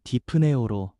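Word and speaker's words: δειπνέω: 먹는다라는 헬라어 발음은 디프네오로 단순한 식사가 아니라 가장 친밀하고 깊은 교제와 화평을 상징합니다.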